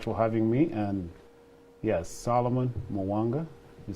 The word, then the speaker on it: Solomon Muwanga: you so much for having me and yes solomon mawanga you said it right all right salomon all